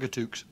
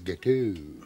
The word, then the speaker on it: gâteau: think you'll find it's gâteau. Gâteau? Yeah. Oh, I see, right. Yeah, the X is silent.